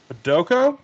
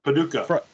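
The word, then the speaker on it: Paducah: Friday and Saturday um pedo is that how you pronounce it Paduka yeah Paduka uh Friday night I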